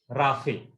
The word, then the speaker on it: Raphe: R-A-P-H-E, Raphe. Raphe is used for smoother pronunciation.